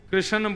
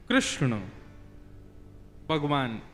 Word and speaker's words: कृष्ण: लाल की जय बंधुओं कई लोग इस नाम को अशुद्ध बोलते हैं कई लोग कृष्ण बोलते हैं कई लोग कृष्ण बोलते हैं कोई कृष्णा बोलता है भगवान का नाम शुद्ध उच्चारण करो नाम क्या है कृष्ण भगवान जय श्री कृष्ण कृष्ण